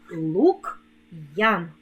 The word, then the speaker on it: Лук'ян: скоромовці ідеться про апостроф коли ми вимовляємо слова з апострофом то вимовляємо роздільну вимову твердого приголосного апостроф робить приголосний Який перед ним стоїть твердим лук Ян Мар ян Дем Ян